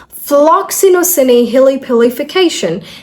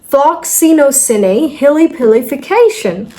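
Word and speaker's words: floccinaucinihilipilification: Floxinosinehilipilification. Sinehilipili. Just remember this. Floxinosinehilipilification. There you go. All right, just break it up. That's the trick.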